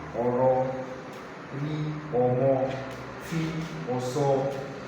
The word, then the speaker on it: ma: This is MA, but the full spelling is MAW. Mo, not ma.